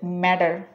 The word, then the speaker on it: matter: পরের শব্দটি হচ্ছে ম্যাটার। এটাকে ফ্ল্যাপিং করলে উচ্চারণ হবে ম্যাটার।